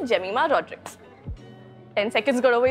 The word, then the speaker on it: Jemimah: He's like, hi, Gemimah. How did he get to Gemimah? No, I think he cannot pronounce J. So he made it Gemimah. So all my cousins were making fun. So, Jemimah.